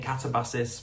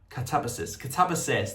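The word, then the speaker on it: Katabasis: I was saying catabasis for the past 6 months, but apparently it's I can't say it. Catabasis, there we go.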